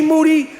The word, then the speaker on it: Moody: in the business Moody last name rhymes with Duty Boston Boston in the